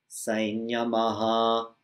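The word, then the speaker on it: saṃyamaḥ: Sainyamaha. We say this M, the anuswara, the M dot, we say it like a N with a tilde. Sainyama, because of the palatal semi-vowel that follows it.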